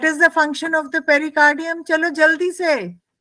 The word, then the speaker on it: pericardium: pericardium and what is the function of the pericardium yes fixes the heart in one place